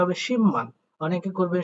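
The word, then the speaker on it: 십만: ক্ষেত্রেও বিউটা ম হবে হবে তার মানে এখানে উচ্চারণটা হবে শিম্পমান অনেকে করবেন শিপমান বাট এটার সঠিক উচ্চারণ হবে শিম্পমান তা দেখেন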